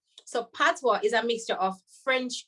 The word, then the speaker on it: patois: so first of all tatwa is spelled p-a-t-o-i-s okay so right away that's a french word so patwa is a mixture of